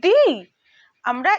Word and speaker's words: the: এবার আসি দি মানে এর উচ্চারণটা হচ্ছে অনেকটা টি এইচ ডাবল ই এর মতো দি আমরা এখানে দি এর উপরে